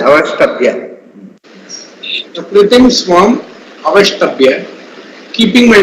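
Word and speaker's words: अवष्टभ्य: Avashtabhya. Both S and T has to be pronounced as Avashtabhya.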